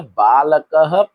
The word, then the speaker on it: बालकः: तो विसर्ग बोलने की वजह से बालकः पठति, इसका उच्चारण हम कैसे करते हैं? ह। इसका उच्चारण कैसे करेंगे? ह।